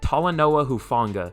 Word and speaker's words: Talanoa Hufanga: Talanoa Hufanga. I like skipped the L the first time I said it, because I never take L's.